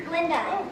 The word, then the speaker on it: Galinda: Glinda, the gut is silent.